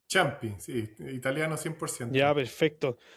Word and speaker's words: Ciampi: Porque es Champi o Champi, no sé cómo lo pronuncian. Champi, sí, italiano 100%.